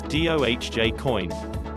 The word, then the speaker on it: Dogecoin: According to the cryptocurrency's co-founder Billy Marcus, the correct pronunciation is D-O-H-J-Coin. Some prefer to pronounce the first syllable like dog or doggy.